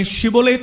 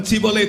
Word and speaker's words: ஷிபோலேத்: ஒருவன் வரும்போது அவன் கிலேயாத்தியனா அல்லது எப்பிராயிமனா என்று கண்டுபிடிக்கும்படியாக நீ ஷிபோலேத் என்று சொல்லு என்று சொல்வார்கள். அவனுக்கு ஷிபோலேத் என்று சொல்ல தெரியாது, அவன் சிபோலேத் என்று தான் சொல்லுவான்.